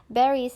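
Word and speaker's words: باريس: Baris is Paris, but in Arabic we don't have a letter called P.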